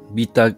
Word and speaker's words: beta: Beta, as in B-E-T-A, glucan. That's spelled correct.